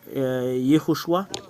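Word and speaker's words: יהושע: Yoshua ou Yehoshua. Le voilà. Ce sont les Hébreux qui l'ont écrit. Study, translation, pronunciation, etymology and grammar.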